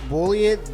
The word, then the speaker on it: Bulliet: This is called Bulliet Bourbon. Is that how you say it? just bullet. Bullet. Bullet. Like, well, it has an I right here.